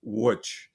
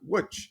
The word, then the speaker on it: Łódź: I've learned to pronounce the name of the city that you visited last year as Łódź. And a lot of scholars I know pronounce it Łódź.